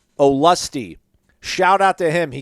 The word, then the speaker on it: Olustee: pronounce her with like oh and then lusty okay there we go